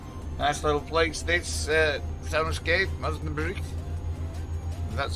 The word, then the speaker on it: Osnabrück: Nice little place, this Soundscape, Osnabrück. That's how you pronounce it.